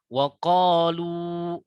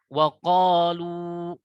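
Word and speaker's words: وقالوا: Nah, itu 2 harokat cukup seperti itu. Waqalu. Nah, ini ayunannya seperti itu. Tidak boleh terlalu panjang kalau kita mau berhenti di sini. Waqalu. Nah, bukan seperti itu cara baca. Itu menjadi salah. Jadi, perhatikan temponya. Waqalu.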